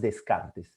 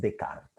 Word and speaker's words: Descartes: aparece la clase de harley no en la pronunciación no es descartes es de carga no es disney es disney no es nike